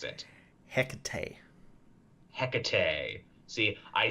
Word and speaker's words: Hecate: Or if you want to get really Greek with it, Ekade, you drop the H.